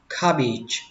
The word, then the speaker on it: cabbage: Cải bắp thì các bạn đọc là cabbage. Cabbage. Cabbage. Âm cuối là âm chờ nhẹ.